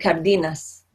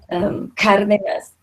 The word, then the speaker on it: Cárdenas: In English, and anybody I've ever known with that last name, I've always said Cardenas, because English doesn't recognize the accent, so they're suffering at the hands of our English pronunciation. So Cárdenas is Latino.